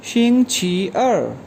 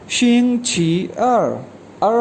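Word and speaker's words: 星期二: अब second day of week कहलाता है ट्यूसडे, इसको चाइनीज़ में कैसे प्रोनाउंस करेंगे शिंग छी अर, शिंग छी अर हमने पढ़ा था 2 के लिए।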